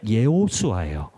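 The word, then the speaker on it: יהושע: 여호수아도 마찬가지 여호수아도 마찬가지로 기록된 대로 발음을 한다면은 예호슈아 그래서 예호슈아 것은 예호와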